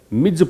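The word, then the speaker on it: Ms: इसको प्रोनाउंस कैसे करेंगे? मिज पढ़ना है।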